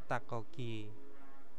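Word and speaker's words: 닭고기: itu adalah daging ayam nah ini bacanya takoki jadi yang dibaca itu yang di belakangnya saja terus ada itu e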